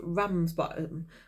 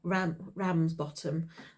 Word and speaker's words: Ramsbottom: in a town called Ramsbottom. or Ramsbottom, if you want me to pronounce it well.